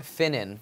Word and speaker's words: Finnen: F what what's the f stand for finnen my middle name oh how do you spell that f i n NE n wow I